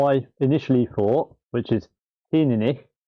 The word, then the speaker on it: Teaninich: The correct pronunciation for this whiskey is Teaninich.